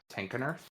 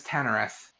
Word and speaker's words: Tenkenurth: I always pronounced it as if the K was silent. Huh. Weird. Yeah, in my head, I always read it as Tannereth.